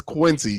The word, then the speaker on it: Quincy: there's no ian quincy it's not kian say he's not 15 in spanish it's quincy q-u-i-n i know a ton